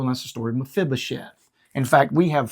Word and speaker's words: Mephibosheth: And Can you pronounce his name again? Mephibosheth.